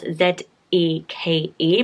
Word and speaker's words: Zeke: So it's spelled Z-E-K-E, but it's pronounced Zeke, I think.